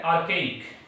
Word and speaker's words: archaic: देखिए एक वर्ड है आर्केइक, ARCHAIC, आर्केइक। आर्केइक बोलते हैं, इसका जो प्रोनाउंसिएशन होता है वो आर्केइक बोलते हैं, आर्केइक, ठीक है, आर्केइक बोलते हैं।